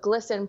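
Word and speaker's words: GLSEN: Yeah, so like you said in that intro, this individual that works at Target also works with Glisten, G-L-S-E-N. They pronounce it glisten, like sparkly, trans, magic.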